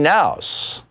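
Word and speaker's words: Knauss: introduces him to Melanie nouse who is now his wife excuse me Melania Kay na USS I believe is pronounced annouce and they end up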